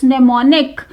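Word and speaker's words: mnemonic: So first is नेमोनिक। यहाँ पर first letter am silent है, इसे आप अंडरलाइन करेंगे।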